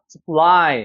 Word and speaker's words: supply: 그래서 힘줘서 써가 아니라 supply, 여기 뒤에가 강해요. supply, 앞에는 그냥 쓰하고 넘어가는 거예요.